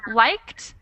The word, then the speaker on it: liked: Liked actually just has 1 syllable, and that is a very difficult thing to tell because it's spelled the same as added. They both have ed at the end, but one is pronounced as 1 syllable and the other is pronounced as 2 syllables.